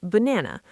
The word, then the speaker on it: banana: For example, the word banana. The first and last a are reduced to the schwah.